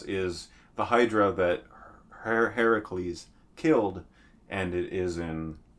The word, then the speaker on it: Heracles: pronounce it right and his name is actually not herc in original Greek pronunciation Hercules Hercules night Professor but uh Heracles is his actual original pronunciation and that is how